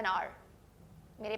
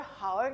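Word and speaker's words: hour: अब फिर से, मैं यहां 'an' का प्रयोग क्यों कर रहा हूं? क्योंकि यह 'हमारा' है, 'हाउअर' नहीं। यह 'घंटा' है। क्योंकि फिर से, यह कौन सी ध्वनि है? मैं इसे स्वर ध्वनि के साथ उच्चारित कर रहा हूँ।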